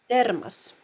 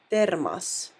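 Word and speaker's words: термос: looks like it that the emphasis is always on a vowel sound thermos thermos so there you can clearly hear that the o letter is pronounced ah thermas so that gives you a hint that the emphasis must be on the first vowel a and not on the or because the O sounds like R right so there we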